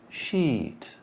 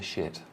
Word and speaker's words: sheet: So, sheet. Sheet. As opposed to shit, yeah? Common Spanish mistake.